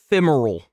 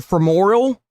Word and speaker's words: femoral: Femeral. Femeral artery. Femeral. Femeral artery. Femeral. You have to learn how to pronounce it because whenever you tell the instru